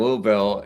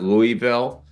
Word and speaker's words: Louisville: a show down in Louisville, and which I think I kind of mispronounced that. I know it's not Louisville.